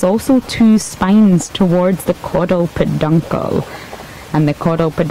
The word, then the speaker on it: caudal peduncle: so just to clarify to some people it's caudal peduncle so you would spell that CA UD al caudal which is also